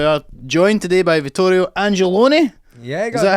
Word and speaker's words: Angelone: They kept saying like Vito Corleone. And I guess it's like Angelone, so it's Angelone, definitely.